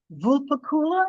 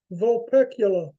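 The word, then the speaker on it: Vulpecula: the constellation is uh vulpakula am I saying it right but I don't think I've ever smelled it the particular sorry vol pecula oh the accent is on the other syllable okay anyway anyway um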